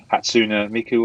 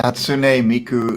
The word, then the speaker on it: Hatsune Miku: I'd butcher every time and I'll try it hatsuna Miku or something that I don't know yeah that's